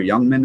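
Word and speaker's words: Jungmann: at Colorado they draw the rookie gunk jungman I think is his name or Youngman is how they say it um there Vegas is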